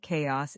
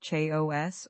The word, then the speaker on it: chaos: The word chaos is interesting because it doesn't follow typical spelling rules. It's not pronounced cha o s or chiao. It's chaos.